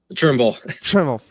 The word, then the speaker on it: Trimble: Okay, well, that's been Thimble. Thank you so much. Did I say it right? Trimble.